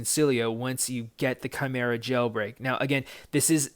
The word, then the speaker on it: Chimera: This jailbreak is the Chimera jailbreak. And I know people have been having some issues in trying to pronounce the name of it.